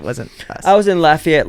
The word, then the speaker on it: Lafayette: us I was in Lafayette Louisana and that's how you say it not laia um last weekend ready